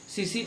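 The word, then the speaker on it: tsetse: जिसका वेक्टर क्या है, सीसी फ्लाई, या दूसरा है ट्रिपेनोसोमा, इसका पैथोजन है। इसके लिए सीसी फ्लाई को टीएसी करके लिखते हैं, जिसमें टी क्या होता है, साइलेंट होता है।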